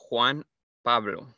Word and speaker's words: Juan Pablo: that's not your name so how do you say it's juan pablo what yeah yeah okay